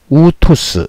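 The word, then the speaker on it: αὐτός: 요 오미크론과 윕실론일 때는 오우에서 우 발음을 한다.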